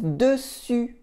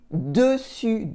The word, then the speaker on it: dessus: And dessous is underneath, over is dessus, dessus, dessus, dessous, dessus on top, and dessous underneath. Did you hear the U in dessus for on top, dessus?